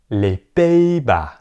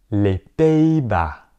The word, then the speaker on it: Les Pays-Bas: That means they are silent, so you do not pronounce them. Répétez les Pays-Bas. Les Pays-Bas.